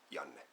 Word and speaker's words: Yan: out of the way my name is Yan and it's pronounced that way Yan hi and uh a